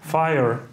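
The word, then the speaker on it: FHIR: within nationals having called false healthcare interoperability resources fire uh it's pronounced the idea here is that they updated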